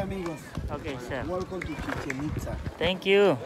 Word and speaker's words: Chichen Itza: Welcome to Chichen Itza. Thank you. Chichen Itza is the correct pronunciation, which means chi mouth, chen well, and itza is a thing.